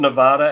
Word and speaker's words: Nevada: That's how they get about Nevada, and it's Nevada. Nevada, not Nevada.